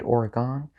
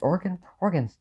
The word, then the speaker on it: Oregon: No, some words are pronounced differently in different accents, but Oregon isn't one of them. Oregon is Oregon no matter what accent you say it in. If you say Oregon, you're just wrong.